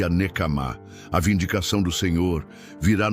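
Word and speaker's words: נקמה: Se pronuncia nekamá.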